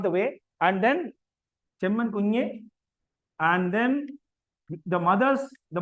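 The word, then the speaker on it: Chembankunju: Chemman Kunju. After u, it is nasalized. After the letter u, it is it is nasalized.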